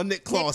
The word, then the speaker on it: Claus: It was Nick Claus. No, Nick Claus, my bad. Nick Claus. It's like Santa Claus. It was like Santa Claus, but Nick Claus.